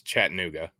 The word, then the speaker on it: Chattanooga: smaller like you said the town all wrong it's Chattanooga but you're close oh you